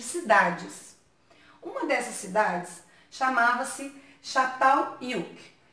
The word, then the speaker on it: Çatalhöyük: Mas lá, na língua deles, Çatalhöyük começa com C cedilha, mas a pronúncia tem som de X ou CH, né?